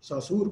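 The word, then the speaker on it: Saussure: और हम देखते हैं आपने सोशर को, सासूर को, या इस तरह प्रोनाउंस करते हैं डिफरेंटली इसको लोग, तो फर्डिनेंड डी सासूर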